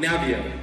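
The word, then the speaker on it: Naviaux: environment in your body robert naboo i hope i'm saying his last name right he has great research on navio is how you say it he has great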